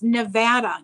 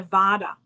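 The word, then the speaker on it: Nevada: know it's like never it's a Vata not Vada I learned that real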